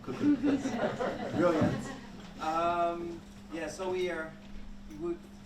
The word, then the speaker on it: Koekoek: And say warm welcome to Koekoek. Thank you very much. Pronunciation was very well of my last name, Koekoek.